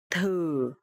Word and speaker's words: thử: Okay, so here the letter TH, and you will pronounce th. Th. And here the tone mark is dấu hỏi, so it will be thử. Thử is to try, and thử thách is challenge.